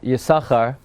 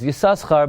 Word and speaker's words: Yissachar: to last night's here we've discussed the proper pronunciation of the word yasakhar which ultimately is the proper pronunciation but we